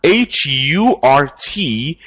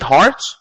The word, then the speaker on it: hurt: But we have H-U-R-T. How do you pronounce this? How do you pronounce this? Is it heart? No. This. How do you pronounce this? Yes, this is hurt.